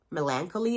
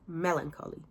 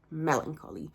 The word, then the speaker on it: melancholy: the name melancholy in their username and I pronounced it like melancholy or something like that cuz that's kind of